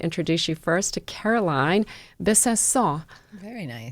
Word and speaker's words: Besancon: you first to Caroline Besancon. Very nice. Which is the perfect French pronunciation. But in Connecticut, how do they say it? Besancon. Besancon.